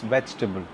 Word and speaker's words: vegetable: vegetable vegetable on a camera vegetable no it's vegetable vegetable right after that uh the next word